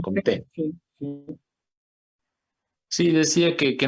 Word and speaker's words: Comte: Al final, pues creo que los franceses siempre el acento en la última, ¿no? Comté.